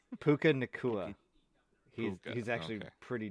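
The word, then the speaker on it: Puka Nacua: Did he just say Hookah Nakua? Puka Nakua.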